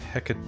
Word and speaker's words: Hecate: that's um Ravan funny Hecate tongue hmm in English stress the stress on the fourth syllable it says on Wikipedia Hecate on crease HECO Tom